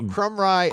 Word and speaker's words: Krumrie: Krumrie That's how you say it.